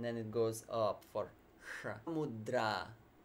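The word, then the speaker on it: mudrā: goes up for mudra it's not yoga mudra many people attempted to emphasize that mudra yeah because in many languages you automatically emphasize the first syllable forget it in Sanskrit you emphasize the long vowels that's the simple principle I can give you now and you don't emphasize the short vowels okay if we don't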